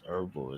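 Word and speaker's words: Erivo: e r i it's irvo yes vvo it's pronounced irvo is really weird the way that's pronounced but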